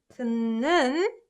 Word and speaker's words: 듣는: Ut combined with 느, right? 듣는 중이에요. So it's pronounced this way.